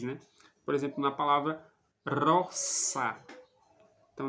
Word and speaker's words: rosa: Por exemplo na palavra Rossa então não se pronuncia Rosa como se fosse no português com o som de z mas se pronuncia como